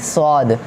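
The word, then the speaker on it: صاد: एस डब्ल्यू डब्ल्यू डी स्वाद इसमें हल्की सी डब्लू की आवाज आएगी बहुत से लोग पढ़ते हैं स्वयं शुक्र अगर स्वयं पढेंगे तो सीन में और स्वाद में कोई फर्क नहीं रह जाएगा सीन अलग है और स्वाद अलग है दोनों के मुख्य अलग है तो इसको आपको हल्की सी जवान गोल करनी है तो अ यह सिर्फ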